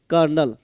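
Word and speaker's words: colonel: ओ एन एल सीओ एल ओ एन एल कर्नल खांसी ऐसा चीज है ना कि रुकना कितना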